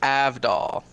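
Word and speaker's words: Avdol: watch the um a-v-d-o-l okay okay so it's AV doll I'm sorry yeah you're trying to pronounce it properly oh you should have pronounced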